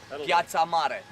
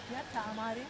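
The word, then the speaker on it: Piața Mare: Okay, so we are in what is called Sibiu, big square, or the main square, or Piazza Mare, that will say it like this. Yes, so Piazza Mare? yes, Piazza Mare.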